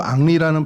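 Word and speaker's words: Henry: 그러니까 불어로 앙리라는 발음을 하는데 그거를 이제 모르는 사람들이 왜 앙리는 뒤에 헨리라는 이름을 붙이고 써 이렇게 이제 오해하는 것에서 나오는 좀 에피소드들도 있습니다.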